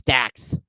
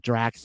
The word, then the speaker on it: Dax: it wrong again anyhow it's dax not drax uh dax chris jericho